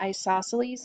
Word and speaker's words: isosceles: That's how you pronounce that, isosceles, and there are two equal sides.